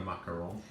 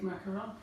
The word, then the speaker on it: macaron: But I think it's just pronunciation, but a macaron only has one O.